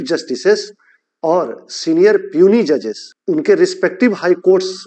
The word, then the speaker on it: puisne: है इंग्लिश में क्योंकि इसकी स्पेलिंग होती है पी यू आई एस एन ए लेकिन इसको हम पढ़ते हैं पियूनी इंग्लिश में इसको हम